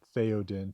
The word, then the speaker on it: Théoden: Old English, being the ancestor of our own language, English, does have th sound. In The Lord of the Rings, Tolkien spells them th, right? Théoden, t h e o d e n.